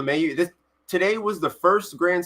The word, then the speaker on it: LeMahieu: DJ LeMahieu had 6 LeMahieu? RBIs Okay, today. that's how you say it. DJ LeMahieu.